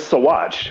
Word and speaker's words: Saguache: So it's Saguache. We at least learned how to say it right now, right?